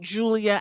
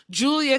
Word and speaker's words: Giulia: Even though her name looks like Giulia. That's why I'm pronouncing it right, Mother Ghoul.